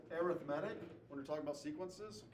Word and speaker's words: arithmetic: The first one, and it looks like this is, it's spelled arithmetic, but it's pronounced arithmetic when we're talking about sequences, okay?